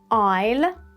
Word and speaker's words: aisle: Aisle, asthma, baguette, croissant, or maybe Americans say croissant, candle, Christmas, and now this one.